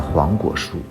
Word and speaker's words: 黄果树: 黄葛榕树、黄葛树，念快了就念成了黄果树，所以黄果树就是这么来的。